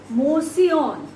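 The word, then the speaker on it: mouseion: Now the word museum is derived from a ancient Greek word which is mosion, right? Mosion. I just spell it here, M-O-U-S-I-O-N.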